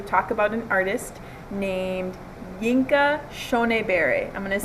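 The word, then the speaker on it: Yinka Shonibare: Burns, and for today's lesson we are going to talk about an artist named Yinka Shonebare. I'm going to say his name again, Yinka Shonebare.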